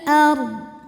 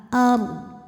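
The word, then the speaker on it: أرض: Huruf ra dibunyikan secara tafkhim, karena huruf sebelumnya fathah. Maka, bacanya tebal ard. Dan dad ini harus tetap terbaca, ya. Jadi, walaupun huruf sebelumnya sudah sukun, jangan sampai dad-nya hilang. Wal ard, tapi dad-nya boleh terbaca secara samar saja, ya.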